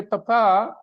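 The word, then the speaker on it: papá: it matters in Spanish if you say papa then it means dad Papa then it means dad the stress is on the second syllable Papa okay it means dad but if you put this stress on the first syllable and you say papa papa then it means potato so imagine if you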